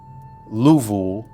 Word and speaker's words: Louisville: I'm 31, a waitress in Louisville, Kentucky. Louisville if you say it right.